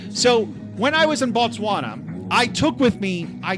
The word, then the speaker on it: Botswana: not No, it's pronounced Botswana. Yes, that's what I've been saying. in B. I haven't been. It's not Batswana. It's Botswana.